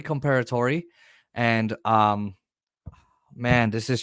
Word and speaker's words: Comperatore: is Corey comparator uh they pronounced his name wrong but it's Corey comparator and um man this